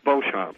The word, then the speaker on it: Beauchamp: you Bob excellent how do I pronounce your last name it's Beauchamp it is you know that there was a pronunciation of Beacham oh sure I get that all the time no oh I thought